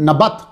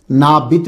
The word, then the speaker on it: نبت: ہے وہ تھا نبت، نون زبرنا بازبربا تا ساکن، نبت۔ اس کے بہت سارے تلفظ جو ہیں وہ آپ کو مل جائیں گے تحقیق کرتے ہوئے۔ نبت تے کے ساتھ بھی ہے، نابت بھی ہے، نبایوت بھی